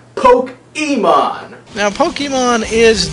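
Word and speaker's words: Pokémon: I'm well aware that my pronunciation of Pokemon is wrong it's Pokemon but you see I don't want to poke anym so therefore I am simply going to say poke Emon now Pokemon is not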